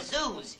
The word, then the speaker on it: Zeus: Hey, you see, his last name is Zeus. You know, it rhymes with booze.